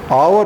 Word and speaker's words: hour: come in an hour hour also has H as silent so he will come